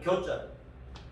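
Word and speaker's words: 酵: 누룩 효자인데 본 발음이 교자.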